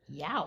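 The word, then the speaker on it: yeow: We had the word that never looks like how it's pronounced, 25 across, ouchie, yow. Yow. Spelled Y-E-O-W. That's right. That E is just sitting there doing nothing, taking up space. Yep. But I guess it has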